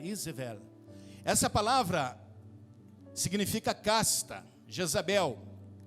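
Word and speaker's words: איזבל: A palavra em hebraico, Jezabel, Izevel, significa casta. Izevel, a palavra L no hebraico não se pronuncia U, é como se fosse um L, Izevel.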